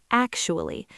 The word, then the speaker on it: actually: It has 3 syllables, act, you, ul, li. But all the power, all the stress goes on that very first syllable, actually. Listen to how I stretch that first sound.